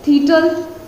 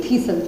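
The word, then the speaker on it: thistle: ये क्या लिखा हुआ है, थीटल, ठीक है, थीस्टल, थीस्टल, टल तो नहीं बोलना, सॉरी मैं भी गलती बोल गई थी, थीसल, ठीक है, थीसल बोलेंगे, क्योंकि टी तो हमें साइलेंट रखना है, तो थीसल बोलेंगे हम इसको, ठीक है, थीसल बोलेंगे।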